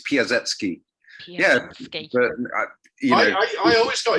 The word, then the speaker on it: Piasecki: In Polish, the C is pronounced as an S, so it's Piasecki.